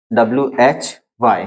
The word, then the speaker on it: why: एक और देख लेते हैं अपन, WHY, तो यहाँ पर भी एच का साउंड नहीं आएगा।